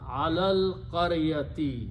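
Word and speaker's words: على القرية: So when you read them together, it is alal qaryati. You don't pronounce this small alif maqsura.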